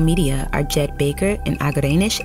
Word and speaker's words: Agerenesh: Executive Producers from Starglow Media are Jed Baker and Agerenesh A. Palmer (pronouncer: Ah-guh-ray-nush).